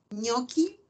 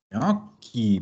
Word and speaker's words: gnocchi: Entonces, en italiano y en francés vamos a encontrar que la GN se pronuncia ñ.